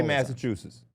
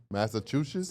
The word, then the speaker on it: Massachusetts: It's a chew sound. Okay, say it. Massachusetts.